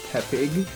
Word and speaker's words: Tepig: Not Tepig, as in tepid. Yeah, it's Tepig.